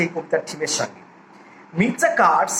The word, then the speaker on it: Mistah: এই মির্জা উচ্চারণটা অনেকটা স্লেভরা মিস্টারকে মির্জা উচ্চারণ করে, মিস্টার।